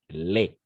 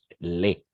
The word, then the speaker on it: les: Et pour le pluriel, simplement, on va utiliser les. On va prononcer simplement les. On ne va pas prononcer le S à la fin.